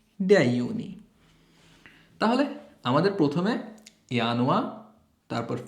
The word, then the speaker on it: Januar: বানানটা খেয়াল করবেন একটু। সো জানুয়ারিকে বলবো আমরা ইয়ানুয়া, ফেব্রুয়ারি হচ্ছে ফেব্রুয়া, মার্চ মেয়ার্চ, এখানে আউমলাউট মেয়ার্চ।